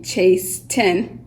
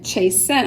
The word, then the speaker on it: chasten: word you can't hear we don't say chase ten do it no we say chase scent almost as though it